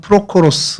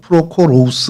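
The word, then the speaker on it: Πρόχορος: 뭐 헬라말로는 프로코로스 뭐 프로코로우스 뭐 이렇게 발음을 하는데 어 여러분 사도행전에 일곱 사람 우리 흔히 일곱 집사라고 하는 스데반을 포함한 그 사람들의 명단이 나오잖아요.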